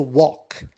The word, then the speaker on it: walk: verb which is to walk l is silent and the past becomes